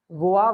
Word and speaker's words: vois: Tu vois, V-O-I-S, il voit. Same pronunciation. Voa, voa, voa. Voa, voa, voa, same pronunciation.